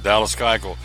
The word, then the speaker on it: Keuchel: I'm still trying to learn this guy. I never do say it right. Dallas Keuchel. It's not spelled that way, but that's how you pronounce it.